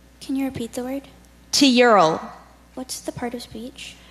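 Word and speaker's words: tilleul: To Ural. What's the part of speech? This word is a noun. Teural.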